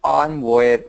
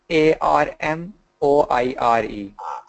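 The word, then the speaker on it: armoire: m o i r so the American pronunciation arm so it's like arm and then War uh it's like W plus a arm War arm War but the French pronunciation on on is something like that I don't know American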